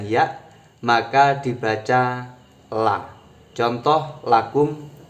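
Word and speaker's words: لَكُمْ: Li bertemu hu berarti membacanya lahu. Li bertemu kum maka membacanya lakum. Li bertemu hunna maka membacanya lahunna. Bukan lihunna, bukan lihu, juga bukan likum.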